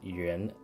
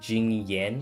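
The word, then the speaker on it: Jingyuan: Oh my god, it's so nice hearing someone say yuan. Hearing after hours YouTubers saying it wrong. What do they say? Jing Yan?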